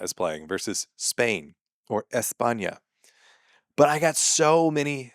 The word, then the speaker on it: España: so many people like "Actually, there's no lisp in España." And so what I said is there is if you have a lisp.